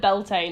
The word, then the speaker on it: Bealtaine: raids on Samhain and Bealtaine. I'm just going to call it Beltane. Apparently that is an acceptable pronunciation, it's just kind of wrong.